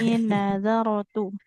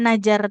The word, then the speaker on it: نذرت: Oh iya, pindah ke Inni huruf nazartu. Nazar tidak najar tuh ya, bukan nazar, huruf jim.